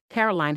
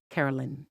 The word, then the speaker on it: Caroline: Mark was about to read the question but said her name wrong. He said, all right, Carolyn. Here we go. No, it's not fine. Carolyn. Kelly snapped and the audience went quiet. Caroline, Mark awkwardly corrected himself.